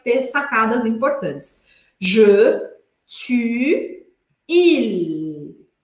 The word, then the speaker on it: il: Je, tu, il. Tenho que falar esse L, tá?